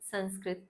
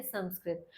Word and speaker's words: संस्कृत: वे जानते हैं कि इसका उच्चारण संस्कृत उचित होता है जबकि संस्कृत गलत है। क्योंकि इसमें सम उपसर्ग होता है। सन उपसर्ग नहीं होता। इसलिए इस विषय के नाम का सही उच्चारण है संस्कृत।